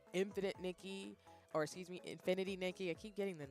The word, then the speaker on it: Infinity Nikki: I will be playing infinite Nikki um excuse me Infinity Nikki I keep again I just said it I said the name wrong again but I will be